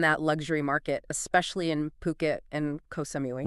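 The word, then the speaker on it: Phuket: Now, these guys are a luxury real estate agency and they're based right in Puket. And just to be clear on pronunciation, that's P O Kit. Yeah. Not Fuket.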